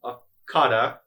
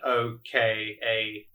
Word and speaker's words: Okada: Cinematography by Darwin Akada. Okay, I'm butchering that name. How do you spell it? Apologies. It's Daryn and then Okada.